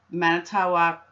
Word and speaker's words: Manitowoc: Now, going back 2 days, even though Teresa wasn't reported missing, on 11/1, Brenda Dassey is questioned at Manitowoc County investigators.